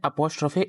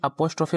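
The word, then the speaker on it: apostrophe: इन दोनों को मिलाकर पढ़ते हैं अपोस्ट्रफी एस। क्या पढ़ते हैं, कोई कोई अपोस्ट्रफी बोलता है, कोई कोई अपस्ट्रफी बोलता है। सही प्रोनाउंसिएशन इसका है अपस्ट्रफी एस, अपस्ट्रफी एस, ठीक है, एस।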